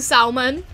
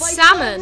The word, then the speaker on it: salmon: salmon I'm sorry but why are you saying Salman please stop saying salmon it's pronounced salmon it's it's very big